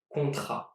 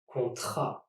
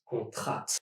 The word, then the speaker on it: contrat: Take the word contrat. Contrat. The T here is silent, which makes it sound like this. Contrat, and not contrat.